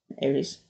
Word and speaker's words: Aries: Aries from from Aries yes Aries I'm saying it correctly because I always get confused with the Greek word word for Mars which is aris but in the zodiac